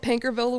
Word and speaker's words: Paincourtville: It's called Pankerville, Louisiana. I love it. It's not how you think it's spelled, so it's really funny.